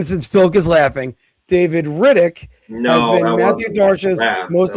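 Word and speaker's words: Rittich: Well, Riddage or Riddick. I've always forgot. It's It's pronounced like Chronicles of Riddick.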